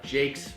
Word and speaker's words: Jacques: At Jacques, and Jacques, we say it a little funny. It's spelled Jacques. Yeah, it's like Jack.